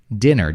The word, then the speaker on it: dinner: do you mean dinner it's an dinner just like sit hit fit right that is the